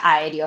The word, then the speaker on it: aéreo: Es esdrújula, por ende siempre lleva tilde. Sí, exactamente. Está tildada en dónde? En la E. A, E, D, O. ¿Sí? Se divide en 4 sílabas eso, ¿sí? Y lleva la tilde en la antepenúltima sílaba.